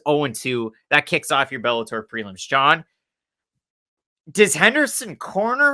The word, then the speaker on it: Bellator: trouble with it is it fight legally it's bellator there you go got it that's gonna be